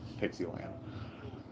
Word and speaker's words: Pixie Land: expect a vlog from Pixie Land. Sounds like you said Pixie Trixie. Yeah. So then after like Pixie stick. Yeah, exactly. It's spelled just like that, like Dixie, but with a P.